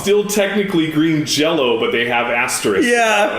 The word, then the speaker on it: Green Jelly: So it's still technically Green Jello, but they have asterisks. Yeah. It's really weird. You're right. You're supposed to pronounce the Y as an O.